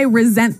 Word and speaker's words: resent: well Anthony said I resent that resent resent okay now this is spelled exactly like resent like with an S right re s EMT but you pronounce it like a Z resent resent that so